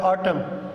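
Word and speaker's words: autumn: उसके बाद हमारा जो है साइलेंट एन है कि एन इज़ not pronounced, N को जो है हम नहीं पढ़ेंगे जब ये एन से पहले आएगा एट द एंड ऑफ the word. तो ये देखें यहाँ पर ऑटम, ये हम ऑटम ये बहार को कहते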